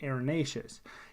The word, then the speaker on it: arenaceous: That's how arenaceous is spelled, but you say it arenaceous.